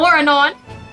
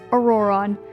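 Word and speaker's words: Ororon: to draw them too I now know it's pronounced aoron but I'm just bad at pronouncing names so so moving on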